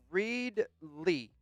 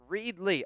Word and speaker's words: Reedley: Um Rodriguez, it's pronounced Reed Lee. Reedley.